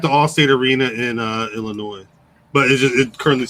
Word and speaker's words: Illinois: all-state arena in uh illinois but it currently says tva for the the name if you pronounce that s in illinois yeah illinois yeah i've